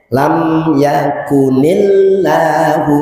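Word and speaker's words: لم يكن الله: di mana memakai harakat maka harus diharkatkan dengan kas dengan kasrah jadi membacanya lam yakunillah Ya. Tuh. Karena apa? Lafaz Allah hamzahnya di situ hamzah wasal.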